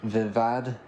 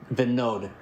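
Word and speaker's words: Vinod: And I met um a young man um uh I I think he pronounced it um Vivad um Vivad is how you would say. Oh no. Venode. Venode. V I N O D.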